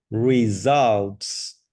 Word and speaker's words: results: Results. Results. Aquí es una de estas Results. palabras donde la U es abierta. Results. Como Results. difficult, result. ¿Ok? La U como en la palabra up.